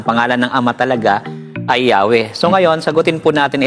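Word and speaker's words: Yahweh: So sabi rito and was probably pronounced as Yahwe.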